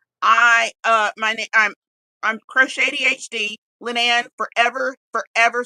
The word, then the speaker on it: croch80hd: Crow like you know blackbird shady like can't be trusted. Oh wait, hold on. Anyway, that's why you're the evil one. and then HD like high definition.